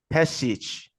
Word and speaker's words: Pesic: Europe that's even and last name is uh pronounced is it passage yeah exactly you're saying you know when I